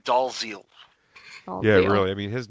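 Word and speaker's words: Dalziel: Oliver plus and Ryan does el I know I said it wrong deer right DL right Ryan dolls eel yeah really I mean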